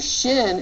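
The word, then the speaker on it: שׁ: a simple s the the shin is pronounced as an sh sound like in he kicked me in the shin or the sh in ship okay the only difference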